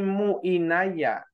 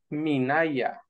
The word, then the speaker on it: minaya: trabado ahí en Náhuatl si una palabra suena fea es o porque no existe o porque la estamos pronunciando mal en este caso no existe muy naya es minaya sí hay que hacer